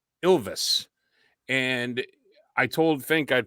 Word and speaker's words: Ilves: about this yes so it's a finnish team pronounced ilves and i told fink i'd pump it up